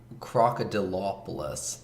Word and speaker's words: Crocodilopolis: Crocodilopolis. There's an extra syllable in there, and I never say it. And I'm aware I'm a terrible person for never saying it.